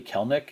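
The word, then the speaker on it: Kelenic: And I found myself, I actually drafted Kelnick, and I know it looks like Kelnick. I believe it's actually Kelnick, even though it looks like it should be 3 syllables.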